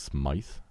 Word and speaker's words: Smythe: My mom corrected me, and apparently it's not Smith, it's Smythe. And it's Old British. It's like Smythy, actually. You pronounce the E.